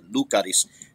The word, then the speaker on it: Lucaris: wrong but uh uh lucares i say lucares but i've had people correct me and say no the emphasis is on the first syllable lucaries but yes cyril lucaris